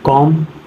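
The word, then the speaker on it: comb: होते हैं ध्यान देना कह रहा एम के बाद यदि बी आता है तो बी साइलेंट होगा कभी भी एम के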